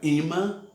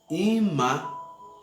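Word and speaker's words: אמא: é só a palavra mãe hebraico se pronuncia ima ima o que significa a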